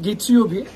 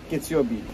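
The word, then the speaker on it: 月曜日: Nasıl okunur? Bu Getsuyobi. Pazartesi anlamında. Getsuyobi.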